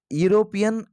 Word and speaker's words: European: european that is european the pronunciation is consonant so here you have to go with a there is a european